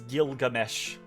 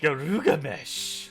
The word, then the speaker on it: Gilgamesh: I assume that is Gilgamesh. That's a weird looking Garugamesh. Garugamesh. It's that's his Japanese pronunciation.